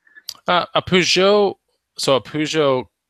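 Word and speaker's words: Peugeot: Yeah, Pujo.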